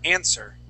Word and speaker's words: answer: uh the W sorry the W is silent uh so we don't say an the word is an let me have you repeat that please answer answer good nice job